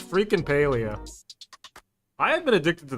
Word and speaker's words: Palia: And they pronounce it Paleia. So, it's freaking Paleia.